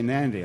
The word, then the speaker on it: Nandi: Most people say Nandi, I would imagine, because it's spelled N-A-N.